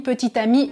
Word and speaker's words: petite amie: petites amies même prononciation petit ami petite amie mais dans tous les